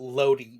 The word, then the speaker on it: Lodi: Like Loki, but Lodi.